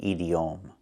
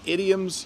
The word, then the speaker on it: idiom: We do not pronounce it edom. is pronounced differently.